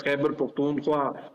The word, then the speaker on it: Khyber Pakhtunkhwa: The living standards in what I would correctly pronounce as Khyber Pakhtunkhwa or Pakhtunkhwa, and therefore even the acronym should be KP rather than KPK.